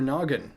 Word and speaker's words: Gnoggin: Use your noggin. Haha. Silent G, because silent letters and stuff, and the G can stand for gaming.